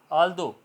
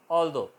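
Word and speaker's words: although: आल्दो, ठीक है, यहाँ तक बोला जाएगा, GH साइलेंट रहेगा, ठीक है। दो, रो, थ्रो, ऑल्दो, ये इसकी प्रोनाउंसिएशन होगी, GH साइलेंट।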